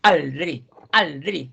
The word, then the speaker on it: aldrig: Se dan cuenta que ella le pone mucho acentuación en aldrig, o sea que nunca, porque por eso se le llaman oración.